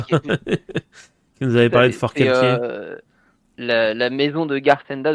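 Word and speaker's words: Forcalquier: Con sur Fort Calquier. Non, c'est Fort Calkier. Ah, c'est Fort Calquier du coup. du coup big up à big up à Roman. qui nous avait parlé de Fort Calquier euh la maison de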